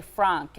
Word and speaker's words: Frank: And I noticed you say Frank. I was saying Frank, so I'm glad that. Yeah, but I want to say it correctly.